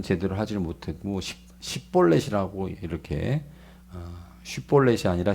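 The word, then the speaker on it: שִׁבֹּלֶת: 말을 에브라임 사람들은 제대로 하지 못하고 10볼넷이라고 이렇게 쉬폴렛이 아니라 10볼넷 이렇게밖에 발음을 못했다고 합니다 그래서 이것으로 인해서 에브라임 사람인지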